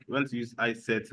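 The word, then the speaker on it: isset: isct people call it some people pronounce it as is set why I pronounce that I set it sounds more reasonable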